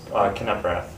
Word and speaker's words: Knepprath: So it's 3 syllables. Knepprath. Okay. So you may be familiar with the closer of the Brewers, Yep. Knable. Just say the K.